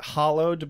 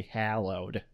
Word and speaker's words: hallowed: what I I mean it's totally legit to pronounce it hollowed but I think that would be more of a British pronunciation since we're Americans we have to say hallowed otherwise how will people know